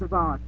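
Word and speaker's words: Avan: I always pronounce his name wrong because I'm trying to say Evan, but I have to say Avon.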